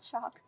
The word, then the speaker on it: Sjokz: And I'm like, no, it's just Sjokz. It's just, you know, like an electric shock.